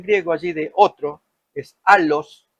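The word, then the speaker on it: ἄλλος: Alos es la pronunciación en griego, consolador, para que esté con vosotros para siempre.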